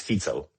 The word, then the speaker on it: Fico: It's Fico. Like we pronounce pizza. It's Fico, not Fico.